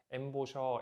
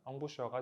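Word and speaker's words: embouchure: 한국을 포함해서 전 세계적으로 불어 그대로 사용하는데 엠보셔, 엠부셔 등 여러 가지로 표기가 되지만 발음에 충실하게 보면 엉부셔가 제일 가깝겠습니다.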